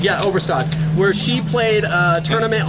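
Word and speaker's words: Annette Obrestad: like, I want to say her name right, Annette Overstead? Annette Overstad. Yeah, Overstad, where she played a tournament online and Sorry.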